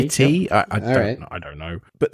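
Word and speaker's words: Gitea: It's spelled G-I-T-E-A. So Git-A. Oh, yeah, like a cup of tea. Git-T.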